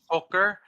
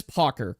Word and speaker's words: Pocker: Is it pronounced poker? No, someone pronounced it poker because I think TMG said poker. Okay, but it is Pocker, correct? Yes.